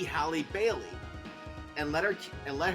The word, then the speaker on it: Halle Bailey: that you pronounce it let Holly Bailey be Halle Bailey and let her and